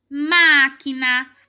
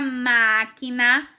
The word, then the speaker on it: máquina: antes da última então na palavra máquina uma é o mais forte e essa sílaba está bem no lugar de antepenúltima vamos pra próxima a